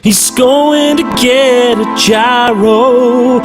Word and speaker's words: gyro: going to get a gyro although it's technically pronounced hero although I still want